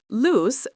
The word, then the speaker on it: luz: Luz, phát âm giống "loose" nhưng có âm Z, nghĩa là ánh sáng. La luz.